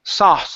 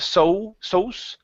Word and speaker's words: sauce: Sauce. Instead of so, it's an a sound.